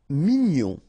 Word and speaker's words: mignon: Mignon, okay, here in that case, G-N-O-N, gnon, mignon.